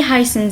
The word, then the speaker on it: heißen: Wie heißen Sie? S7, il se prononce 2 S, ok?